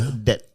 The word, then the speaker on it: debt: Those who is pronounced as debt. Debtor. Debt. Silent B. Debt. The B is there for decorative purposes only.